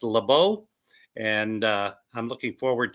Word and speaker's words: Leabu: how to spell or how to pronounce my name it's laau and uh I'm looking